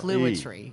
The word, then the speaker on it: Clouatre: It's like Clouatre. clue plus otter without the ER. It's a very strange name because it's not spelled like that. It's spelled No, C-L-O-U-A-T-R-E. it's spelled like Clouatre.